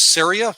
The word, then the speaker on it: Ceria: uh yeah again it's syria syria i'm from syria rhymes with area there you go and